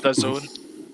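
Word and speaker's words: DAZN: that kind of stuff it's d-a-z-n but it's pronounced the zone uh crackle um shudder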